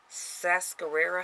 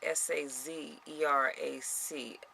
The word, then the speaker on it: Sazerac: the summer opening of the Sascarera House, and I may be mispronouncing that, Sazerac, Sazerac House, a museum dedicated to the history of the iconic cocktail.